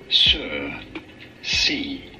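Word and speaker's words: Circe: up in greek mythology how do you go about pronouncing her name cersei sir c turn out cersei or kirk anyway so this is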